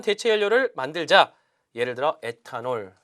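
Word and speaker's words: ethanol: 연료를 만들자 예를 들어 애타 널 자 에탄올이 이제 여러분이 단어 뜻을 알고 있지만 이 트 너 발음을 잘 하셔야 되 조이스 너 이어갑니다 있어 너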